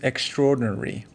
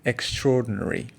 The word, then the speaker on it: extraordinary: the next word is extraordinary remember that a is silent and R is linked to O extraordinary it's an adjective very